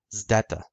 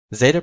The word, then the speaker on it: zeta: Now, the classical Greek pronunciation of the letter zeta was an SD sound, so zd or st, which basically sounds like a ZD sound when you combine the letters together.